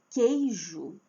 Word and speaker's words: queijo: Mas quando eu falo, é queijo queijo, o u não tem som.